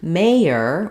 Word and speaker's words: mayor: have an R sound, but in mayor, we have 2 syllables. So we can think of it as the first syllable is stressed. It sounds like may with the A diphthong that slides. And then letters OR say the ER sound in this word.